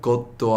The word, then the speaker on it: God: 갓도 아니고 god도 아니고 애매모호한 발음." Okay, yeah. So God. I think it's kind of similar to God, but it's got a harder D sound, so like d, odd, God.